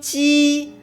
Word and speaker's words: 機: 飞机即将的声调是一声飞，一声机，二声即和一声的将。